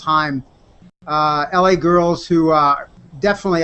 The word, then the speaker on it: Haim: talked-about artists were Haim looks like Haim but it's pronounced Haim la girls who are